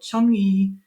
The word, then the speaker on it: Changi: be from Singapore, and it said that you should call it Changi Singapore Airport.